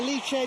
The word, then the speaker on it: Alice: it you can say Alice you can say eliche doesn't matter how you pronounce it they deliver itan